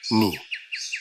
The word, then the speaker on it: 二: It is pronounced ni.